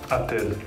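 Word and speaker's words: отель: Jadi dalam bahasa Rusia hotel itu Atel. Atel. Atel. Atel. Jadi penulisannya itu sebenarnya dia pakai O gitu, tapi bacanya Atel.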